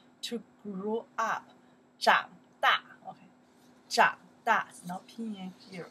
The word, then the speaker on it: 长: Okay, right now we pronounce the to grow, yes, 长, 长, to grow.